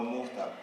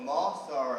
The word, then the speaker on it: mustard: Well, I just want a hot dog, no mufta. No what? Like a mufta, the yellow sauce. Oh, mustard, I get it now.